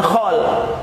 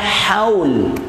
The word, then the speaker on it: haul: dan Kalau acara yang tahunan itu namanya bukan hal itu namanya haul namanya haul moutinho oleh